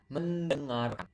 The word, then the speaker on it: mendengarkan: Study belajar, watch menonton, and then which is listen mendengarkan. Men- You You can hear the sound there. You can hear the sound like French.